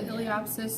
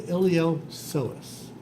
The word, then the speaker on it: iliopsoas: The iliopsoas. That's all right. It looks like iliopsis. Sorry. It looks like iliopsis. It does. What it is that it's the ilio muscle and the psoas.